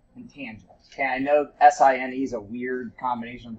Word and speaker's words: sine: Okay, I know S-I-N-E is a weird combination of letters for us, but this is sine, just pronounced just like S-I-G-N, right?